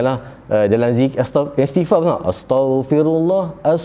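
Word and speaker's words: أستغفر الله: Macam-macam lah dalam zikir istighfar pun astaghfirullah, nak istighfar tapi sebab astaghfirullah, bukan tau tu, astaghfirullah, betulkan sebutan.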